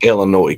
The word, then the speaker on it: Illinois: tear up roads let's see I've got an Illinois question since we got a couple of illinoisians on here why do y'all spell it with the damn ass on the end